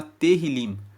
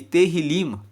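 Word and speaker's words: Tehilim: Salmos no hebraico eh se chama terril se escreve t e h i l i m e terr liim traduzindo para o português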